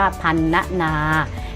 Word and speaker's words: พรรณนา: ธรรมะ พรรณนา อ่าน ว่า พรรณนา สังเกต ว่า พยายาม ที่ ใช้ รอ หัน นะ คะ ว่า อ่าน ออก เสียง เหมือน มี ไม้ หัน อากาศ กับ ตัว สะกด ของ คำ นั้น อ่ะ ลูก นะ คำ